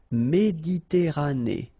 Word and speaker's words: Méditerranée: Okay, here final not pronounced, but then you pronounce this E at the end. Méditerranée.